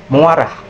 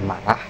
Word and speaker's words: marah: Kesahan fonologis muarah dengan perbaikan marah dan graf dan grafnya adalah marah. Kata marah diucapkan menjadi muarah dengan penambahan bunyi vokal u.